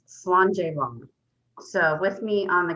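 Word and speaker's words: Slàinte: scottish host that means to your health it's pronounced slander so with me on the count of three let's toast each other slander and with that i hand it over to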